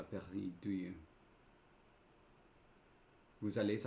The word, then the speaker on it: vous allez: Vous allez? You do pronounce the S.